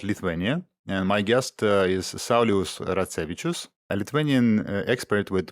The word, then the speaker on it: Saulius: will talk about Lithuania, and my guest is Saulius Ratsevičius, a Lithuanian expert with more than 20 years of experience in banking and finance, and including helping companies to enter Lithuanian market. Hi, Saulius.